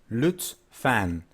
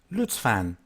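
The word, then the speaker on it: lütfen: in Turkish one of them is normal way Lutz fan Lutz fan Lutz fan Lutz fan the other one is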